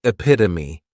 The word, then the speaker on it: epitome: Next is epitome. And this noun has four syllables and the stress is on that second syllable.